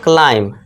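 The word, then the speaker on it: climb: अब देखिए यहाँ एम के बाद क्या है बी, तो ये क्या होगा, बी साइलेंट हो जाएगा, इसे पढ़ेंगे क्लाइम, ठीक है दोस्तों।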